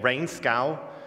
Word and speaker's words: Reenskaug: his name is drakeway rainscow um I don't speak Norwegian that's my best bet at how to pronounce that all the Norwegians out there come and correct me afterwards I think it's rain scow so he's visiting at